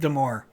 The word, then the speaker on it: Damore: sip of of balmore balmer rhymes rhymes with damore um okay where was